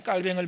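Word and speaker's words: Calvin: 종교개혁은 얘기하면요, 마틴 루터나 장 깔뱅을 많이 얘기합니다. 이 영어식 발음으로 칼빈 아닙니까?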